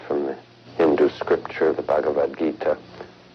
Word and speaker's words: Bhagavad Gita: the sacred Hindu text bhava gagita wrong how do you say it Bhagavad Gita often referred to as simply the Gita bhagavad-gita Bhagavad Gita and now you know okay glad we